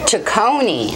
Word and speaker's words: Cecconi: Cecconi. I knew I was going to think like you're like pronouncing. It's spelled differently, but Cecconi. It's pronounced the same way. Cecconi.